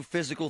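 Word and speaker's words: Fyzical: You want a new physical therapy experience? You want a treatment plan centered on you? Monroeville Physical, spelled F Y Z I C A L, is spelled different, you know, cuz they are different.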